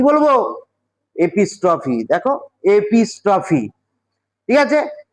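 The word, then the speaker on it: epistrophe: দেখো দুটো কিন্তু উচ্চারণের একটা ব্যাপার আছে এবং স্পেলিং এরও ব্যাপার আছে। আমি প্রথমে যেটা বুঝিয়েছিলাম সেটা হচ্ছে এপিস্ট্রফি। আর এখন যেটা বুঝাচ্ছি সেটা হচ্ছে অ্যাপোস্ট্রফি।অপোস্ট্রফি বলতে কি?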